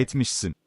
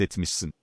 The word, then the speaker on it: etmişsin: Ayşe dedi ki, sen onu ziyaret etmişsin. Etmişsin. Okay. It's the first syllable.